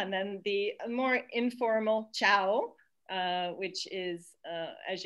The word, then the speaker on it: ciao: goodbye ciao yeah and you can really hear all the vowels in this italian as we were saying with campania is a very musical language and a very phonetic language so um you have three vowels in there and you can actually hear them if you go in slow motion so that's beautiful ciao